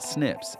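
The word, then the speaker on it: SNPs: doctors fonte pebo detecting single nucleotide polymorphisms pronounced Snips is essential across the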